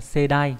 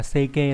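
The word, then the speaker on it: 世代: Thì chúng ta có từ thế hệ trong tiếng Nhật là Seidai, chữ thế với chữ đại. Chứ người ta không ghép thế với hệ là Seike đâu các bạn nhé. Đấy. Nó là thế với đại, Seidai.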